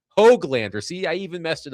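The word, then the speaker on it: Höglander: Nils Hoogle sorry, Hoglander.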